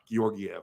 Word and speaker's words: Georgiev: Georgiev, yeah.